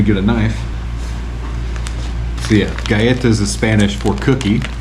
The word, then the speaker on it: galletas: this is uh gas galletas maybe in Filipino it's pronounced with L's it's a Spanish word right back let me get a knife so yeah Gaeta is a Spanish for